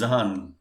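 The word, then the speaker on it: Zahn: to note here friends our tooth that is in our mouth is known as zhan okay so make sure you don't confuse between zen and zhan in case if you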